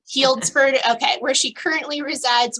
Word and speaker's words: Healdsburg: you might have to correct me if I'm mispronouncing that that's exactly right Healdsburg okay where she currently resides with her husband